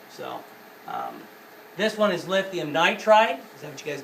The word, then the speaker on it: nitride: So it is nitride. Nitride. Yeah, but it's 2 syllables, so we try to always keep them at 2 syllables.